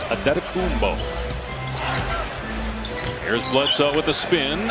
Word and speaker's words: Adetokounmpo: Pronunciation guide in the Milwaukee game notes. It is Adetokounmpo.